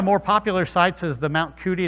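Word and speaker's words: Mount Cudi: popular sites is the mount cootie it's actually pronounced mount judy but it looks like mount cootie it was also called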